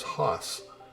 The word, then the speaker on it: horse: watch bonanza and remember we pronounce horse as huss but we see it as horse the family of contrites